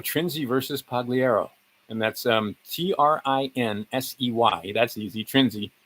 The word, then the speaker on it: Trinsey: And that's Trinsey. That's easy. Trinzi v. Pagliaro. I believe that's how you'd pronounce it, right?